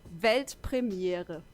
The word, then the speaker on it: Weltpremiere: It's actually Weltpremiere. Pretty similar, right? I think I could do that. Yeah, do it. Weltpremiere.